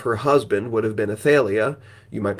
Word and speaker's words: Athaliah: completely independently of her husband would have been Athaliah. You might pronounce that Athaliah.